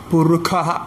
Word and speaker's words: പുരുഷ: അപ്പൊ പുരുഷ എന്നുള്ള സ്ഥലത്ത് പുരുഖ എന്ന് പറയും.